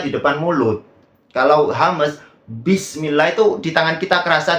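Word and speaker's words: بسم الله: Oke bismillah dari sini bismillah Ba Itu bukan gitu cara bacanya bukan bismillah tapi bismillah karena ba itu saya tulis di sini sudah memiliki sifat jahr bukan Hames kalau Hames itu mengalir nafasnya jadi Bismillah lah kalau cara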